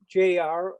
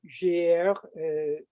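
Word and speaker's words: JR: about a french artist named j.r or jier pronounce it in french he is what's known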